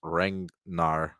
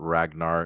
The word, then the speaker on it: Ragnar: It is pronounced Rangnar, not Ragnar. It is just spelled Ragnar.